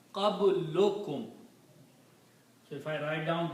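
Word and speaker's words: قبلكم: In Arabic, when we combine, we don't pronounce two dhammas, but we say one dhamma, qablukum. So if I write down these together, it will be written like qablukum.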